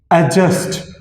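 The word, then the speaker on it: adjust: में, और वो है एडजस्ट। इसको एडजस्ट कहना नामुनासिब होगा, उसी रूल के मुताबिक कि जब डी के बाद जे या जी आ जाए तो डी साइलेंट होता है, म्यूट होता है, इसकी साउंड साइलेंट होती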